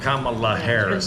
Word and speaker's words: Kamala: not going to vote for Kam is itala Kamala pronounced it right I've seen her on The View